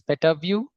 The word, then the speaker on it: Petavue: you know uh it's it's actually the actual pronunciation is PETA view um you can view or analyze pedabytes of